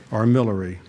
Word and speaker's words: armillary: The park's central feature is a pedestal mounted armillary or if you want the litvach pronunciation arm millery an astronomical device that is also used to tell the time.